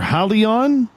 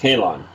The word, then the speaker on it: Halon: All right, Halon, or Halion? How is that pronounced? Oh, no, they are pronounced Halon.